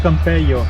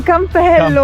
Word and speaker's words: Campello: vedere cosa c'è qua Ah hai detto Campeio non Oh no è vero Campello Campello No vabbè cioè per che Spagna alle 2 l e si leggono la i si legge come se fosse una i quindi castello di Campeio